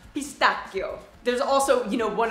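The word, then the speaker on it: pistacchio: really good it looks like it would be pronounced pistachio but it is pronounced pistachio there's also you know one of my absolute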